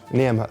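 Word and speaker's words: Niamh: Niam, with a silent H.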